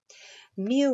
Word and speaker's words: mu: Mu represents the mean of an entire population. It's a value that we're trying to understand, and it's unknown. And again, it's pronounced mu.